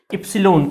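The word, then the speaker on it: epsilon: पर एक constant introduce होगा जिसको बोलते हैं एप्सलोन। क्या बोलते हैं? एप्सलोन। ठीक है? तो मुझे भी बहुत दिन लगे इसका नाम रटने में। आई होप आपको भी लगेगा। इप्सिलॉन। क्या पढ़ते हैं इसको? इप्सिलॉलो। इसका स्पेलिंग भी लिख देता हूं।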